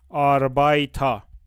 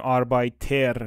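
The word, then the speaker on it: Arbeiter: آش از کجا میاد ما ا ار رو خیلی خیلی جاها توی آلمانی صدای آ می‌خونیمش ا ار که میبینیم مثل چی مثلاً آربایتا آ نمیگیم آربایتر میگیم آربایتا آربایتا یعنی کارگر خب پس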